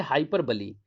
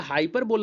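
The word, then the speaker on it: hyperbole: तो इसको आप हाइपर बोल नहीं पढ़ेंगे, इसको हाइपरबली कहते हैं, ठीक है।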